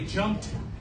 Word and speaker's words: jumped: That ED is tricky because that ED can be not one, not two, but actually 3 different sounds. So the ED often makes the T sound at the end of word, like it's a T. So when you say jumped, you can hear that T sound when I say it.